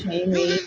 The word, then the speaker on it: Sheamus: Now, I admit it's a shameful thing trying to figure out the name of a wrestler that rhymes with anus, but the correct answer, who is Sheamus?